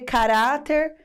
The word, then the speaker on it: caráter: É só você chamar pela palavra, descobrir qual que é a sílaba tônica, né? Por exemplo, ca-ra-ter. Qual é a sílaba que deu aquele arrastadinho? Ah, ca-ra-u-ra! Então, se você sabe que a palavra tem acento, chama pela palavra. A sílaba tônica era "ra", então com certeza o acento agudo fica sobre o "ra".